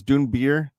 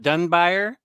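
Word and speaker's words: Dunbier: So some of the artist editions do have like complete stories in them, which Scott, I think Omar pronounced his name as Dune Beer. Dune Beer, not Dunbuyer.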